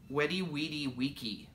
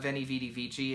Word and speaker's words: veni vidi vici: in blah blah blah the actual pronunciation of that is weddi weddy wedi vici weddy wedi vici yeah not veni vidi vici is Winnie wedi vici I don't know apparently the V's are W is and the C is